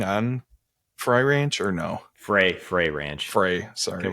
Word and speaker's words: Frey: we are trying which which way do you say it Frey Fray Ranch Jesus I I was gonna say that and then I did double get I second guess myself what was the other pronunciation fry yeah he was just